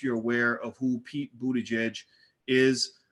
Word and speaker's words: Buttigieg: Pete bode jej is I had to practice pronouncing his name because you know it's hard to pronounce Budaj but yeah especially when you look at the spelling it's kind of kind of strange but anyway Charlemagne interviewed